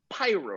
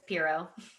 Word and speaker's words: Piro: and expert kelly donahue pyro right did i pronounce that correctly you can really call me anything but it's piro piro tel i don't